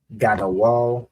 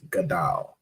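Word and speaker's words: גדול: Okay, we have Gadawal. I believe this would be should be pronounced as Gadal.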